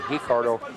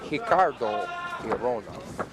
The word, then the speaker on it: Ricardo: Sometimes you're going to hear Basin say Ricardo. Sometimes I will say Hicardo. In Brazil, they pronounce the uh words that begin with an R with an H sound.